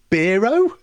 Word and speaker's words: Bero: Is that Bero or is it Bero? It's Bero. So because obviously like that's hero or Nero.